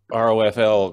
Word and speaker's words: Rofl: what he's and then it said rhymes with waffle so what is the rofl raffle name it's like